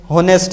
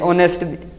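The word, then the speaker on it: honest: गलती कर लेते हैं होनेस्ट इसे समझते हैं लेकिन ये असल में जो वर्ड है ये ऑनेस्ट ऑनेस्ट है वर्ड ऑनेस्ट यानी कि इसका जो ओ है एच है वो साइलेंट है तो ये जो हमारी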